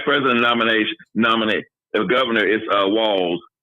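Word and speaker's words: Walz: And the vice president nominate the governor is Walls. It's like WALLS, but it's a Z. Walls.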